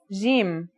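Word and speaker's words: ج: Our first letter is Jim. This one is easy to pronounce. It's somewhere between a G and a J, depending on the accent.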